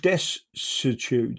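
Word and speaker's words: desuetude: Um it's called I think it's called Desitude. So, it's d e s u e t u d e, right? And it's a bit of a funny one to try and pronounce.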